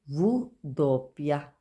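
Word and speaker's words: vu doppia: डब्ल्यू को बोलेंगे वू दोपिया, वू दोपिया।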